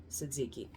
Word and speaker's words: tzatziki: best tzatziki dip um the tea is silent Suzuki uh but I get